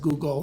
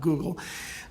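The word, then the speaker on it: googol: the Google universe and I pronounce it Google not Google what fraction of the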